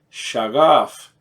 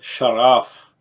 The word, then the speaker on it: Shaghaf: the gh pronounce of like a soft R or a French R anyways this is ultra